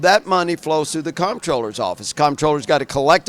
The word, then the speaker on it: comptroller: They don't even know how to pronounce the word comproller. Controller.